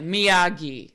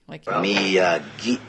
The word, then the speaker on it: Miyagi: And he's like, Miyagi. Miyagi.